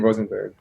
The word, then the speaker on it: Rosenberg: of the countries, but in Israel it's like you can really sound German if you say it like that. I would just say Rosenberg. It's even a bit weird for me to say it with an English accent.